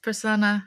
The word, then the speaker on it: Prasanna: I don't know if I pronounce his name well. Yes, Prasanna, exactly.